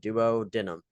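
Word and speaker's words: duodenum: doo denim is how you say this Duo denim is how I say it Duo denim this is the site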